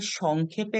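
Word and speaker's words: sec: আমরা পড়বো হচ্ছে কস বলে জানবো টানজেন্ট এটাকে সংক্ষেপে লিখা হয় বা অংক করার সময় আমরা লিখবো টান এটাকে আমরা উচ্চারণ করবো টান আচ্ছা এরপরে কোটানজেন্ট কে আমরা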